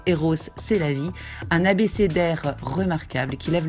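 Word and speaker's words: Rrose Sélavy: En 1919, il nous hypnotisera avec sa machine optique, nous priera de toucher les œuvres, surnommera son alter ego féminin R. Rose, c'est la vie, à prononcer Eros, c'est la vie, un abécédaire remarquable qui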